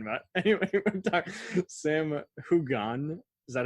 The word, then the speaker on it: Heughan: Anyway, we're talking Sam Hugon. Is that how you pronounce it? Heughan.